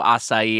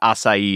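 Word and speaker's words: açaí: that's the the the when I was look was looking at phonetic pronunciation I saw a few different sources I think asai is pretty close to what it is in Portuguese um but it's uh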